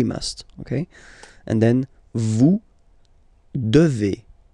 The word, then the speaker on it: devez: And then, vous devez. Remember, classic ending for vous here, EZ, but then you pronounce this combination of two letters, E, devez, devez, vous devez.